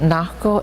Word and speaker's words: Nako: So this is how you say it. Nako is bear, and Imotava, he is black.